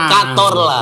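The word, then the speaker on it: Cazorla: Oh ini Santi Kazorla Katorlah. Katorlah dibacanya katorlah. Oh kator ya.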